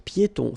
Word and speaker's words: piétons: Un passage pour piétons. Final S here, not pronounced, and then final not pronounced.